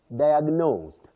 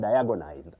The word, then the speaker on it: diagnosed: That H is not pronounced. Neism. Then Renaissance. Okay. Diagnosed. Diagnosed. Bety I hear a lot of diagonized.